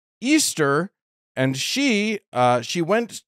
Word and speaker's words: Ishtar: love war and fertility Ishtar which was actually pronounced Easter and she uh she